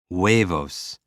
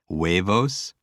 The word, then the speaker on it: huevos: Huevos. I think waves and O's and eggs. There's just a story right there. Huevos, a bunch of waves and O's and eggs.